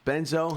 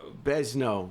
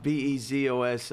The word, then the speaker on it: Bezos: Benzo? How do you say his name? Amazon CEO. Bezos. Bezos. I don't want to mispronounce it.